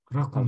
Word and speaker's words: رقم: Also rein auf Mim. Ich versuche das auf Lateinisch zu schreiben. So. Rakam. Also Ra und Qaf und Mim.